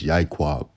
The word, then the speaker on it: Yiqab: In the Hebrew, it can be referred to and pronounced as Yiqab.